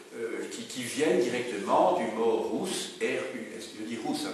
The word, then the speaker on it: rus: viennent directement du mot rousse, R-U-S. Je dis rousse, hein, parce que le U se prononce ou toujours, voilà, sinon on va dire russe, mais c'est rousse.